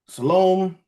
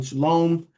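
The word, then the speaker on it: שלום: So they see shalom or how they they show the pronunciation shalom.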